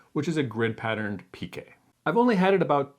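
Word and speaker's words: piqué: This honeycomb fabric is a different word, and in the textile industry, at least in English at least, they pronounce it as pique.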